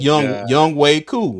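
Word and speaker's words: Younghoe Koo: but it's crazy because it's pronounced young young Way co so that that's that's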